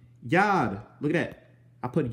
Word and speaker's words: Yod: You pronounce this one Yod.